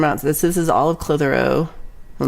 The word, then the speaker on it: Clitheroe: Maybe it's called Clit Hero, but I think it's called Clitheroe.